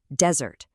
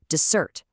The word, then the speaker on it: desert: When these words are nouns, the stress hits that first syllable. Record, desert, object. But watch what happens when they become verbs. The stress shifts to the second syllable. Record, desert, object. It's such a subtle little thing, but it's a powerful rule that completely changes the word.